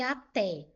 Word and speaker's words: até: Agora, a Té não é monossílabo tônico. Eu separo aqui, ó, a Té. Eu tenho duas sílabas. Agora, por que que essa palavra foi acentuada? Porque ela é uma oxítona. Até o té é a sílaba forte. A última sílaba é a sílaba tônica.